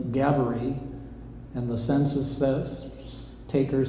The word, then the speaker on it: Gaboury: The local record keepers say, how do you spell Gabaree? And you spell it phonetically in English, Gabaree, R-E-E. Looks nothing like the original.